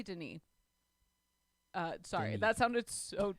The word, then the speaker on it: Denis: say his name um what else could it be dennis it's definitely denis uh sorry that sounded